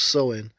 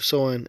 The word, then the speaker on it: Samhain: So Sam Hayne which is pronounced sewing Sam Hayne or sewing is a Gaelic festival on November 1st marking